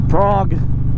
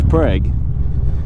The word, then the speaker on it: Prague: or heard of a Prague check if it's often yeah if I butcher that I'm sorry but Oklahoma has a frog but they don't pronounce it like that it's preg so I will do